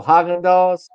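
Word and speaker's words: Häagen-Dazs: Oh, Haagen-Dazs. That's the actual pronunciation.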